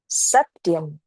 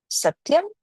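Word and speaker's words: सत्यम्: So the two qualities that we're going to do today is Satyam is the first quality. It means truthfulness. Satyam means truthfulness.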